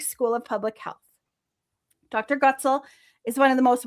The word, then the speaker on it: Goetzel: Goetzel is the way to pronounce it.